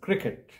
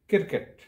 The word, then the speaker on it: cricket: in the wrong way this is pronounced as cricket not as kirkut the second word that